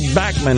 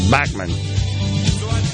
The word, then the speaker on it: Bachman: like that 72 BTO Randy bman I think is the way he pronounce his name bman Canadian of course Canadian